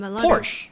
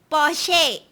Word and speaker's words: Porsche: it's located in stutgart Germany I've heard Americans pronounce damn Porsche right how do you say that um in kind of say like Porche Porche yeah but some some people also call